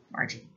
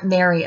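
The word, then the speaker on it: Marji: So from that day forward, I have been M-A-R-J-I, Margie, which again, really confuses people because they can't figure out how to pronounce it. I get called Mary a lot, or Mari.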